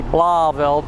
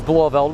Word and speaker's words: Blauvelt: That's how it's pronounced, Blauvelt. Some people say Blauvelt, but that's not the case. It's Blauvelt, which is well, it's basically a hamlet in what is today Orangetown.